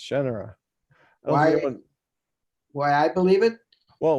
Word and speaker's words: Shannara: Everyone should know it was being pronounced Shannara. Why I believe it? Well, what you told me was you were like, well, I thought of it like Sha Na Na.